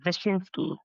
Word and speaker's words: Wyszynski: Okay, it's Wyszynski, but it's spelled with a W. So the Ukrainian pronunciation is Wyszynski, Okay. yeah, Vichinsky.